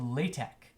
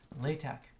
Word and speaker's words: LaTeX: is this is a computer markup language called lay tech okay lay tech and it's spelt the same thing as latex and latex is